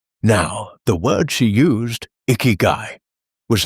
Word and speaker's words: ikigai: It was almost always the same 3 syllables, ikigai. So what is ikigai? Well, let us break it down. It is a compound of 2 Japanese roots. Iki, meaning life. Gai, meaning worth or reason.